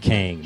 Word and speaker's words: KY.N.G: Because you spell it different, Ky.N.G. That's my initials. Okay. My first name is, Kyndol. So Ky.N.G. That's King, my birthday is in August.